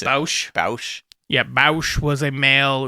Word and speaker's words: Boushh: It's like Boushh or something.